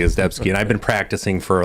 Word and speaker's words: Ezdebski: and we were talking about pronouncing your name correctly as debski and I've been practicing